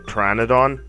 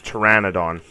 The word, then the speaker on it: Pteranodon: I always thought it was Pteranodon, but apparently it's Pteranodon.